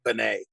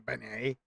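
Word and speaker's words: beignet: you keep calling it banet banet yeah well well it's pronounced more like a Benet Benet there's no why there's no why the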